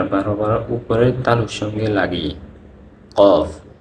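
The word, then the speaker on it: ق: 4 নম্বর হচ্ছে জিহ্বার গোড়া তার বরাবর উপরের তালুর সঙ্গে লাগিয়ে কফ। কফ, আমার উচ্চারণটা খেয়াল করেন, কফ।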